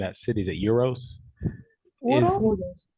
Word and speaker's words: Uros: I don't know how to pronounce the name of that city. Is it Euros? Uros? Uros.